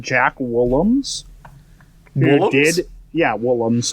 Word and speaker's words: Woolams: Yeah, Woolams. It's spelled W-O-O-L-A-M-S.